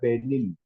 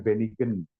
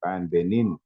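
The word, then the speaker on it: benign: Gesing mining yang dicari kata benin bacanya begitu ya bukan benigen benin oke ya kita lihat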